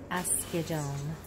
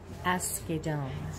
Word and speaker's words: Asghedom: Hermias Joseph Asghedom. Hermias Joseph Asghedom.